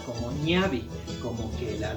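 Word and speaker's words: ñawi: la ñ a w y ñauli pero se pronuncia como niavi como que la w o la W se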